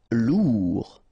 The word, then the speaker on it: lourd: Okay, combination of A, I, N phonetically will give you this pronunciation. Saint. Lourd.